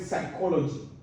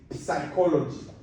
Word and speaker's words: psychology: the word the word psychology because there's a p in front of it so there others that will say psychology I've heard that before